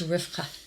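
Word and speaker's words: Rivka: the hebrew you know in hebrew they actually pronounce rebecca what we say rebecca they it's rifka rifka so they use the sound yeah from the quaff yeah okay which that's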